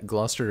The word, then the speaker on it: Gloucester: I mean gler Gloucester also has a fewer syllables so yeah gluster is a a nobleman and he has two